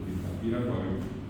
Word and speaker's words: Tapiracuay: Entonces, aquí quedó Tapiracuay para nosotros, Tapiracuay. Correctamente, no olviden que el acento va aquí, por eso final.